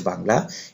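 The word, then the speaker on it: باء: তারপর হচ্ছে বা, এই হরফটি উচ্চারণ হবে আপনার দুই ঠোঁটে উচ্চারণ করতে হবে।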